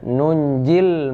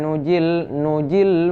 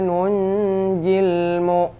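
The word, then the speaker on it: نُنجِي: Ya, ini bacanya nunjil mu'minin. Jangan nanti wa kadzalika nujil mu'minin. Ini tidak kita baca, jangan. Ini tetap dibaca wa kadzalika nunjil mu'minin.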